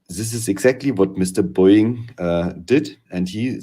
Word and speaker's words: Boeing: So say after me, please. Boeing. Boeing. Thank you very much.